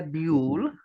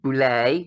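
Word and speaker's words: Boulle: on a book by Pierre bu or Boule depending on how you want to pronounce it French author ble and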